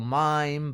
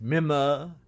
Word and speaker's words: Mime: albert has this brother which in english we call mime but in the opera he's pronounced mima and he has special